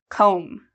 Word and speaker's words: comb: hair in the morning do you hear the B sound comb no there's no B sound